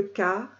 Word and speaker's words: Kar: Faites-le vibrer dans le deuxième chakra longtemps pour que le Kar, K-A-R, serrez le nombril et faites-le vibrer.